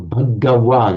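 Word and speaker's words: भगवान्: Yes, Okay, Bhagwan is the same meaning, yes. Right, so that, in fact, the Bhagwan, or Bhagawan, you pronounce the ga properly in Sanskrit, is the nominative form.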